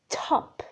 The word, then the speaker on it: top: write it for example the word top with the you feel like there is a puff of air top this puff of air we put it as a small [ʰ] above the t Okay, so, when